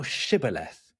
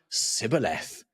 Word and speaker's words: shibboleth: If he say nay, then said they unto him, say now shibboleth. And he said, sibboleth, for he could not frame to pronounce it right.